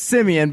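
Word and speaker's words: Siemian: that you just said, because I think you mispronounced Travis Simeon's last name. I don't think so. It's the seaman. It is Simeon, but I knew Adam was going to roll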